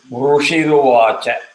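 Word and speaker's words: ऋषिरुवाच: So it is rushiruvacha. Rushiruvacha. Correct. Ru is short. It is not dirgha.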